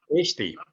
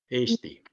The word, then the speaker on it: Eesti: Eesti. Eesti. Тут надо следить, чтобы не было Eesti с коротким «э». Все-таки должно быть 2 «э», Eesti.